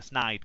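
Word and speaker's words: Sneyd: It's going to be a Snide call late in the game, a Snide call, sorry, to pronounce his name correctly.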